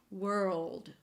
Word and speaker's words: world: And the word world is a wr and then just think of tripling the L wr-llld wr-llld.